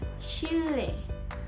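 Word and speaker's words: 칠레: La segunda sílaba sería una L y una E. Como podemos ver, la sílaba anterior también tiene una L, así que esta sonaría como un poco más pesadito. En conjunto sería chile, chile, como más enfatizado en la L.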